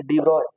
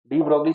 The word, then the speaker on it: de Broglie: ब्रोगली ठीक है actual में पढ़ा जाता है डी ब्रॉय ठीक है डी ब्रोगली चाचा को क्या मिला नोबेल प्राइज नोबेल प्राइ